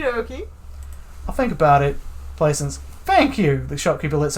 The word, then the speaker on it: Plaisance: My name is Plaisance.